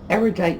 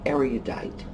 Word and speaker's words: erudite: I assume people make the mistake because they think it has the same long U pronunciation of words like cute or mule.